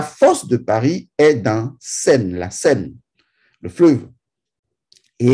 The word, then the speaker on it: Seine: Parce que l'histoire de Paris est intrinsèquement liée à ce cours d'eau qui traverse entièrement Paris, la Seine. Vous avez bien entendu, j'ai bien prononcé Seine.